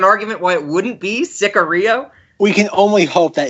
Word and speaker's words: Sicario: So the movie this week is, drumroll please, 2015 Sicario, directed by Denis Villeneuve, who everybody probably knows from Arrival, Blade Runner 2049, and Rob's favorite film of the last decade, Enemy.